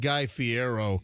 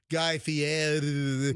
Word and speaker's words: Guy Fieri: Well, Guy Fieri. It's, Fieri, Fiero. Guy, and you got to say Guy's name the right way. It's not Guy Fiero. You got to go Guy Fieri.